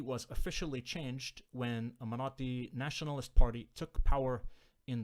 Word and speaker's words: Marathi: And that deity was worshipped by the local people who spoke the Marathi language, or Marathi. How do you pronounce it? Marathi with the t sound.